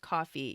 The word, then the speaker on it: Ko-fi: Ko-fi is pronounced coffee, yes, because it's supposed to cost about as much as a cup of coffee.